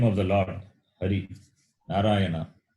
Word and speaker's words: Hari: Hari. Narayana. If it is a vowel a, Ari, Ari means enemy. So, if you change the pronunciation, the meaning will change.